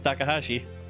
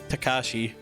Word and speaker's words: Takashi: about practicing craps with takahashi i keep saying takahashi but his name's actually takashi i keep throwing in the extra syllable there we go although